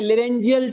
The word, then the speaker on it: laryngeal: लेरेंजियल chamber.